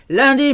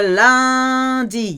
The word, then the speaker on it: lundi: How can we remember lundi? UN is un. It comes from the moon, which is la lune. But in the day of the week, it's pronounced un.